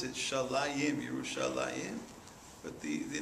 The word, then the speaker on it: Yerushalayim: It's not, we pronounce it Shalayim, Yerushalayim, but the name of the city is Shalem.